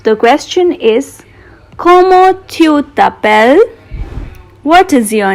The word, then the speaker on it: t'appelles: We will not be pronouncing this last S, so this question becomes Comment tu t'appelles?